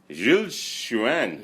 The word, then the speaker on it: Gilles Chuyen: territory canra and he is one and only J Shuan yes perfect did I pronounce it your name correctly just perfect that's